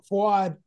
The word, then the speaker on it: Fouad: Fouad, I'm sorry. I mispronounced that. Yeah. No, you got it right. Actually, you did. Fouad.